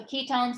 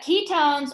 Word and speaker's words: ketone: of acetone is so ketones look like this um and the name ending is o-n-e but you pronounce it o-w-n own okay but it's spelled